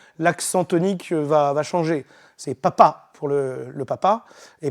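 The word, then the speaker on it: papà: D'ailleurs, en italien, ils disent papa pour le pape et papa pour le père. Simplement, l'accent tonique va changer. C'est papa pour le papa et papa pour le pape.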